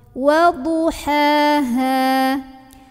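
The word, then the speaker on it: وَضُحَاهَا: Nah, ini juga sering tertukar, jadi hati-hati. Biasanya H yang tipis ini ke bawah tebal, waduha gitu. Atau yang gede ke bawah tipis, ya. Bukan tipis tebal ya, ini sebetulnya dua-duanya huruf tipis ya, H dan H tuh. Yang halus sama yang berat ya. Atau ke bawah dua-duanya jadi halus, waduha ha, nah itu keliru juga. Jadi ini H yang pertama halus, ha, ha, banyak anginnya, keluarnya dari tenggorokan tengah.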